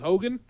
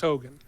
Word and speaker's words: Heughan: I believe his last name is pronounced Hogan, but spelled Heughan. I believe it's pronounced Hogan.